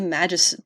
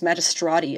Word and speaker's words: Magistrati: tribunal to jordan the magist oh it's magistrati i've been saying it wrong this whole time who were judges jurors